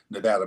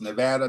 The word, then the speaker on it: Nevada: when I moved to Nevada by the way I come from a state where pronunciation matters it's Nevada not Nevada about Nevada you might get